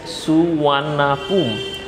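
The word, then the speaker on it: Suvarnabhumi: The name সুবর্ণভূমি is pronounce as সুওয়ানাপুম। সুবর্ণভূমিটা আমরা যেভাবে উচ্চারণ করছি এটা আসলে উচ্চারণ করা হয় এইভাবে সুওয়ানাপুম। তোমরা নিশ্চয়ই বুঝতে পারছো সুবর্ণভূমি লেখার সময় কিন্তু এটার উচ্চারণটা হচ্ছে সুওয়ানাপুম, এটা ওদের ভাষায় এইভাবে উচ্চারণ করে ওরা।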